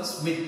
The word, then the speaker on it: Schmidt: இத ப்ரொனவுன்ஸ் பண்றது ஸ்மித் அப்படினு ப்ரொனவுன்ஸ் பண்ணுவோம்.